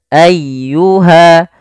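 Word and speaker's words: أَيُّهَ: Sanafrugu lakum ayyuha, ayyuha. Tekan di lafal ya-nya. Jangan ayyuha, jangan ayyuha, atau juga memanjangkan a-nya sebagaimana iyyaka.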